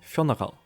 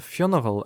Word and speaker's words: Fionnghal: ends off of words, nor does the start of Fionnagal sound at all like today's Fiona.